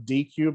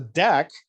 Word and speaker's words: deque: the regular queue so we pronounce this deck like a deck of cards but it's not necessarily